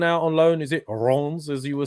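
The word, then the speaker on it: Reims: Is it Rons, as you were saying, Tom?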